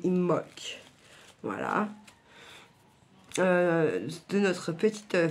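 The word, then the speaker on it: Imbolc: Comment s'appelle de d'imolk à chaque fois je dis le B mais en fait on ne prononce pas le B ça s'écrit imolk et ça se dit imolk voilà euh de notre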